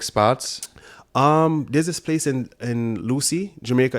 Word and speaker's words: Lucea: There's this place in Lucy, Jamaica. It's not really. It's spelled Lucea.